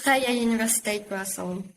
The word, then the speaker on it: Vrije Universiteit Brussel: It's Vrije Universiteit Brussels.